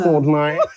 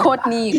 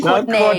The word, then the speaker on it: Courtney: It's like something, I'm Courtney. Not Courtney. Courtney. Thank you. Never Courtney. Always Courtney.